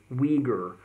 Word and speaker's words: Uyghur: It's designated for the Uyghur people, commonly pronounced in English as Uyghur, but I'm told that their native name actually sounds more like Uyghur.